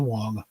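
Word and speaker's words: Wang: It's just pronounced Wong.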